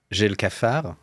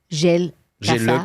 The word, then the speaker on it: J'ai le cafard: J'ai le cafard. J'ai le cafard.